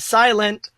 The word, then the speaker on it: Psilent: it is by a lovely person named Silent. Oh my God, they have the best name ever. It's spelled Psilent because the P is silent.